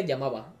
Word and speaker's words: Yamba: Me llamo Yamba. Se pronuncia Yamaba.